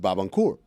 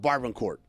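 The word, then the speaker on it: Barbancourt: we were in college and he and he pronounced bab andur B cool if I'm going to be really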